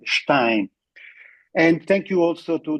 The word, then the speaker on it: Stein: I would prefer to use the ordinary British pronunciation of his family name, Stein. Of course, this is how generally it is known. Here in Pakistan, we know perfectly that his name should be rather pronounced Stein.